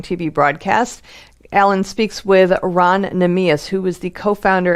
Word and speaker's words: Ran: But it's Ron, that's R-A-N, not R-O-N.